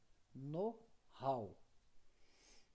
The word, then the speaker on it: know-how: as expressões de propaganda e aí quem está com o slide está lá, Knov, pronuncia know-how, escreve Knowhow, então Knov, mas pronuncia know-how.